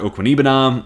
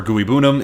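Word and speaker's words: Okwuegbunam: guys so well resigning Albert okam uh or guyam if you prefer that pronunciation word both and I just like saying both so you got both um moving on for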